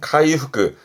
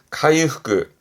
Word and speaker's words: 回復: 발음은 카이후그 카이후그 그렇죠 한자 했었죠 왕자 이게 왕복이네요.